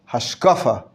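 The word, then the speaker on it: השקפה: Machshava, hashkafa is used more in the Haredi world, or to properly pronounce it, hashkafa, the Ashkenazi pronunciation of hashkafa.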